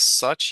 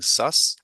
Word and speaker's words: such: Same thing with such. Instead of emphasizing the ch, you were pronouncing that as an s. So instead of such, you were saying sus.